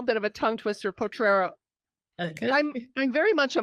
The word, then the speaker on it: Potrero: It's a bit of a tongue twister, Potrero.